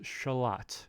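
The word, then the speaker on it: Xolotl: It's like a, not like lut, but let.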